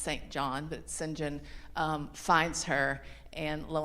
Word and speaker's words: St. John: Um, and so she really feels saved and held by her natural surroundings um until um Singhen, his it's pronounced St. John, but Singinjen um finds her and lo and behold, she discovers some relatives who come out of the Moors.